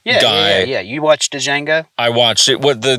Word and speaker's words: Django: yeah yeah you watched Django I watched it what the the D is silent maybe for you but